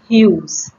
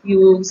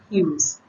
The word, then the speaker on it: Hughes: written by ted hughes it is pronounced as hughes not as huge or something else as you pronounce h-u-e-s hughes ted use so in